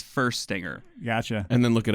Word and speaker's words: Fuerstinger: get your name right my name is first singer oh yeah yeah I mean or you know fierce singer might be the proper way to say it I don't know I always say you know first you know yeah I get I get a lot yeah more people just look at it and they're like anybody anybody wants to know its first stinger gotcha and then look